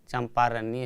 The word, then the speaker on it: चंपारण्य: जोड़ अ बराबर आ चंपा अरण्य चंपा अरण्य इसे आप बोलकर भी देख सकते हैं चंपा अरण्य चंपा अरण्य धीरे-धीरे दोनों की नजदीक कीजिए चंपारण्य चंपारण्य चंपारण्य देखिए इसका उच्चारण चंपारण्य होता है उपाते यहां जो उप